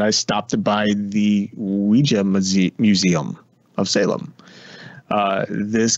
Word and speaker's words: Ouija: of Ouija board which avoids I keep saying Ouija because it's actually pronounced Ouija not Ouija right how we do it yeah and so